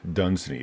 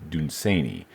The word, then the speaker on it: Dunsany: The next is Lord Dunsany. A lot of people say Dunsany. I think I remember reading that the correct way to say it is Dunsany.